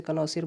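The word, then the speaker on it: connoisseur: उसे कनोसिर बोलते हैं।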